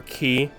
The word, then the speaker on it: quay: We have a K, I know, or key, depending on how you say it, or quay.